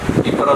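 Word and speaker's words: إقرار: Ikrar itu bacanya alif, ikrar.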